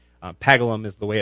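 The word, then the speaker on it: Paggleham: people in uh the the town of pagham pagle ham is what it looks like pagalum is the way it's pronounced um I play the part of a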